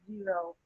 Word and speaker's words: Xero: I Oh, think the thing I sent you, it says zero, but it's actually XERO. It's pronounced zero.